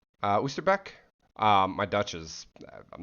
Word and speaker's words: Oosterbeek: But we are playing on, I believe it's pronounced Oosterbeek, Oosterbeek.